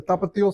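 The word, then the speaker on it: Tapatío: Tell me again how to pronounce that. We have the tapatio sauce.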